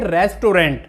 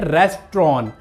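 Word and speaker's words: restaurant: उच्चारण गलत होता है हम इस वड़े को बोलते हैं रेस्टोरेंट लंबाई रेस्टोरेंट में जा रहे हैं यह रेस्टोरेंट नहीं होता तो इस वर्ष की सही प्रनंसीएशन होती है रेस्ट्रॉन् रेस्ट्रॉन् भाई रेस्टोरेंट चलूं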